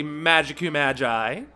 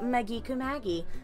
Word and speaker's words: Maggi Kumagi: My name is and I am here with the lovely Magicu Magi. Oh god, you can't pronounce it, you poor thing.